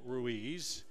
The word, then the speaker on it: Ruiz: the boy menace and mispronounce it it's ruiz yes midfield will